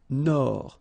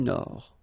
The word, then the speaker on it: Nord: Amérique du Nord. Final D not pronounced. L'Amérique du Nord.